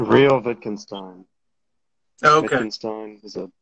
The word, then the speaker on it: Real Wittgenstein: So, real quick, how do you pronounce your name? Real Wittgenstein.